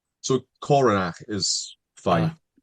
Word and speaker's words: Coronach: So, Coronac is fine. Cor. It's got the ch like the the kind of sound at the end like silent. Coronac. Coronac, you know.